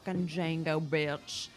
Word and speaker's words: Django: Zorro King remember D the D is silent it's Django yes